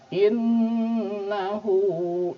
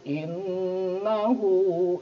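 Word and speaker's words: إِنَّهُ: ke kalimat berikutnya ada innahu innahu Nah di sini hukum tajwid yang ada di sini adalah gunnah Oke Kenapa karena Nun bertasydid cara membacanya tentu saja didengungkan nah salah satu hal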